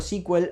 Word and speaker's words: SQL: 1974 precursor de sequel de hecho se le sigue diciendo squel a sql no se dice sql muchas veces se dice squel si ven algún tutorial en inglés Probablemente lo vean de esa forma luego en el 79